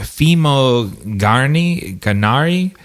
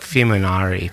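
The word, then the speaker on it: Fimognari: Uh anyways, the cinematography is by Michael Fimog Fimogi Ganari. H sorry it's a silent G like lasagna. It's like Fimonari probably.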